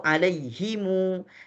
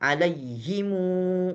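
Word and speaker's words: عَلَيْهِمُ: Alaihumu atau alaihimu. Setiap kata-kata hum yang menunjukkan kepada mereka, artinya mereka jamak banyak begitu ya. Sehingga mim itu dipanjangkan alaihimu, bukan alaihim, padahal tulisannya alaihim, tapi mereka bacanya alaihimu.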